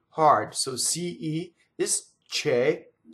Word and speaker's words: che: So CE is che, CHE in Italian is K, right? And again, the K is like ge, but K, right? Very, very voiced, but yet unvoiced. So the word K is a strong monosyllable.